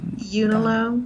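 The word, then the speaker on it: Unalome: I don't know the pronunciation of, how do you pronounce that? Unilome. Unilome, yeah.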